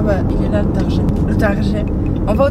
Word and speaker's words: Target: Il y a beaucoup d'Américains, apparemment, qui disent Target parce que ça s'écrit T-A-R-G-E-E. Ils le prononcent Target ou Target, je sais pas. Mais en gros, il paraît que les gens un peu pète-pète, ils le prononcent à la française parce que vous savez